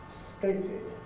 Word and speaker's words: stated: And there's a special case if the stem ends in one of the two sounds t or d, one of the two alveolar plosives. Because if the stem ends in one of these two consonant sounds, then it would be really not possible to pronounce a t or d immediately after it. We have to put a vowel in. So from to state, the past tense is stated.